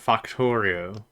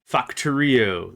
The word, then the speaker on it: Factorio: Is that how I pronounce it? Factorio. Factorio. That's how it is.